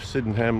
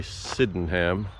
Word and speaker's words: Sydenham: Sydenham Lake now, or as some of the locals say, Sydenham. Sydenham. I always say Sydenham like it's spelled, but apparently the locals say Sydenham. Sydenham. Just run it all together fast.